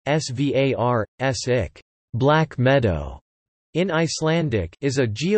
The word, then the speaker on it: Svartsengi: The Svartsengi Power Station, Svartsengi, Icelandic pronunciation, Svartsik, Black Meadow, in Icelandic,